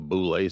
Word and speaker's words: Boule: Boule. How do you How do you spell it?